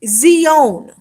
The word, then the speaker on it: Zion: say Zion all right it's actually Zee own all right there's no heart I sound in Zion and we're going to